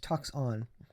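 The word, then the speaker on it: τόξον: look at this uh uh talks on it's pronounced talks on so again um it says uh see that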